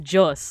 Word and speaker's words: Dios: But I don't know if it's all of the Filipino languages, but I know that my dad, like, it's pronounced Jos, like with a J sound.